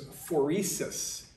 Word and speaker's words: phoresis: that you defined in your assignment yesterday, was phoresis. That's how you pronounce it.